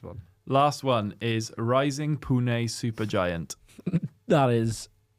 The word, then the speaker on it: Pune: last one is rising Pune super giant that is that's how it's pronounced pun it's true it's real